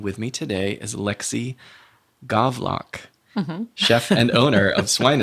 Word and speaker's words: Gawlak: right yeah and that's okay golock but it's golock yeah yeah I'm going to get used to